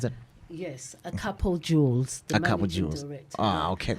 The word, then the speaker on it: Akapo: Is that how you pronounce it? Yes, Akapo Jewels.